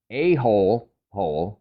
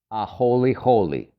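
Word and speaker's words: āholehole: write it down if you read it as a whole whole well think again because it's actually pronounced a holy holy and it's the name of a species of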